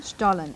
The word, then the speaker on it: Stollen: And I know I'm not pronouncing that right, so perhaps you'll give me the correct pronunciation. You're pretty close. Stollen? Stollen.